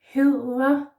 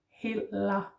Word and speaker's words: hedder: So it's important that you don't make an L.